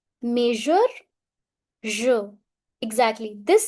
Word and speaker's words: je: It's je. Je. It is the soft sound je. Try to speak measure. Measure. Je.